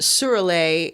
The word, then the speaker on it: Şüräle: shirley she they are shirley and again it's pronounced surely it's spelled s-h-u-r-a-l-e if you want to look